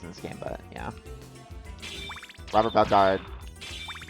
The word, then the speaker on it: Alucard: Alucard, or however you pronounce the last name, did a great job. It's Alucard.